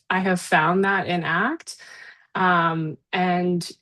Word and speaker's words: ACT: Um but it's referred to as ACT, the word like the verb as opposed to an acronym like act or to like you know spell it out or say it out the full thing each time.